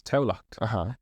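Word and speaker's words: Tamhlacht: So, but Tallaght spelled in Irish is Tamhlacth, which is Taulacht.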